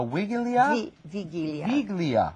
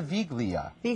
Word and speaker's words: wigilia: um and also you have a let me pronounce this correctly again a wig a wigilia now what is a viglia is an as a Christmas Eve dinner it's